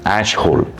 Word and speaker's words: Ashhole: More importantly, uh you're right when you said pronounce it right. Ashole.